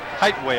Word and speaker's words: Heightway: Relford goes deep to take this punt, and the punter, is it pronounced Highway? Yeah. Yes. Heightway, I believe it is.